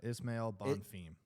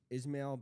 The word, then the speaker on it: Ismail: week Terence McKinney versus how do you say Ishmael not Ishmael Ismail bonfim two brothers fighting